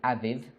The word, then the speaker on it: Abib: l'année, which was called Abib. qui était appelé Abib. Some people pronounce it Aviv, D'autres personnes disent Aviv, signifying new fruits or green ears.